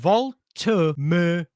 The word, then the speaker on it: Woltemade: So apparently you pronounce it Woltemade.